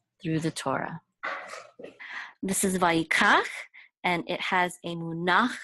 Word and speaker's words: vayikach: The accent is going to be on the last syllable, kach. Vayikach. Okay, so it's not vayikach or vayikach, it's vayikach.